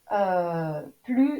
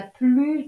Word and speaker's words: plus: On ne prononce pas le S quand plus est devant la préposition de et un nombre. Par exemple, c'est un arbre qui a plus de 500 ans.